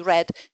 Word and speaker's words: read: is the past tense uh of the verb to read pronounced exactly in the same way as red. So I can't remember who what book he read.